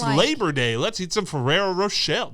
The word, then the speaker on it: Ferrero Rocher: Ferrero Rocher. Ferrero Rocher. Isn't that what I said? No, you're saying Rochelle. I said Rocher and you... No, you're right. You're right. Never mind. I was saying Rochelle.